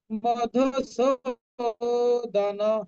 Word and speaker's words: মধুসূদন: ঘ্নতোপি মধুসূদন, এই মধুর ধুটা যে আছে এটা হুসু, হ্রস্বকার হবে, তার মানে অর্ধেক উচ্চারণ হবে। মধুসূদন হর্ষ উচ্চারণ, আর সোটা দীর্ঘ উচ্চারণ।